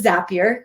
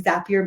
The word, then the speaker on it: Zapier: we do pronounce it zapier you can remember that by saying zapier makes you happier so pretty easy i'm